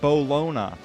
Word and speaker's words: Bologna: He was on a roll, so he was like, "I'm gonna chill here, in the city that's named after that weird meat, but it's actually pronounced Bologna."